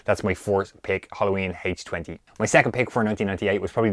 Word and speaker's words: H20: I always say H2O, but I believe it's supposed to be H20, the way you pronounce it.